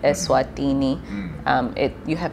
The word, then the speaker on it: Eswatini: helps, as much as pronouncing it Eswatini. It’s not an English word. So you have to also get it right I did take notes,